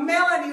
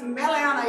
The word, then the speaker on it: Meliana: So or Melanie or Melania, but it's Meliana in Hawaiian.